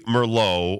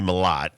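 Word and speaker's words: Mellott: This Tommy Merlot or Tommy Malott, you can pronounce it either way.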